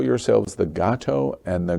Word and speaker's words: Gato: You call yourselves the Gato and the Guapo. Did I pronounce that right?